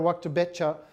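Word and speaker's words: Wachter-Boettcher: Sarah Waktabecha, who's just published this book, which I've not yet got.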